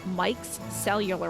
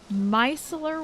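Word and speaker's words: micellar: like oh my gosh I have to stop myself from saying Mike cellular water micel water I think is how you say it but Mike cellular water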